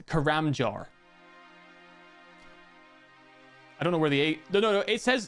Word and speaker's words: Karamja: Karamjar. It actually says karamjar. I don't know where the a No, no, no. It says it says jar. It says jar.